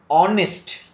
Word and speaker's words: honest: H is mute at the beginning of many words. ಅಂದರೆ H ದಿಂದ ಪ್ರಾರಂಭವಾದ ಬಹುತೇಕ ಪದದಲ್ಲಿ H ಅಕ್ಷರವು ಉಚ್ಚಾರಣೆಯಾಗುವುದಿಲ್ಲ. You have to remember to use of the articles and with unvoiced H. Honest. How can you pronounce this word? Honest. Don't say honest. Ha, don't say like that. Honest. Our, our.